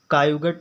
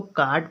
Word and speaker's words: caught: Example है CAUGHT, कायुगट नहीं पढ़ेंगे इसको, बहुत लोग क्या पढ़ते हैं कायुगट पढ़ लेंगे, इसको डायुगटर पढ़ लेंगे, डायुगटर। अब ये क्या है, गलत है। जब उसको उच्चारण प्रोनाउंसिएशन इंग्लिश में उच्चारण को कहते हैं, उसको अच्छे से प्रोनाउंसिएशन नहीं आ रहा है तब वो नहीं पढ़ पा रहा है। अब इसको कार्ड पढ़ेंगे, CAUGHT को कार्ड पढ़ते हैं।